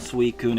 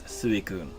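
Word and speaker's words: Suicune: it's it's ente and it's not suun it's suun it's different it like believe me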